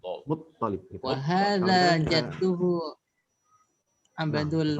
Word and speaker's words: Muttalib: Muttalib itu toknya di tasjid ya. Iya Ustaz. Apa namanya nih Muttalib? Muttalib.